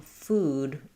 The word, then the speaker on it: food: So when I'm saying food, I'm really round and high.